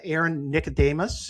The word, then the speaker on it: Nicodemus: And uh I want to thank uh Aaron Nicodemus. Is that how I how you pronounce it, Aaron?